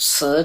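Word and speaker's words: 死: 4 is bad because it sounds like the word, it's si, but it sounds like the word si, to die.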